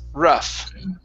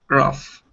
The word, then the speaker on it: rough: the word rough so the uh the gh here creates an f sound so it's rough rough okay very good all